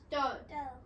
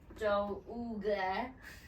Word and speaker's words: dough: Dough. Dough. Red dough. D-O-U-G-H. So it's not pronounced do-ooga. Ooh, dough. Dough.